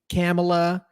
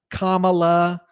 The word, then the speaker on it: Kamala: me that that is still the topic kamla camela Kamala Kamai Scala whatever you whatever man dude where's